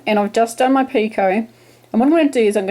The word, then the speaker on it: picot: slip stitching, it creates, I call it a picot, I don't even know how to pronounce it properly, P-I-C-O-T, picot.